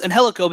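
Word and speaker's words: Angélico: he ever actually signed Angelico I believe it's actually pronounced and helico that is correct answer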